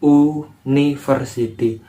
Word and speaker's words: university: Contohnya seperti University Hai di sini tulisannya memang University tapi cara bacanya kan you bunyi konsonan nya itu